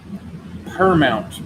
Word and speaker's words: Permount: Her mount permount mounting medium. It's spelled P E R M O U N T per mount, which I think stands for permanent.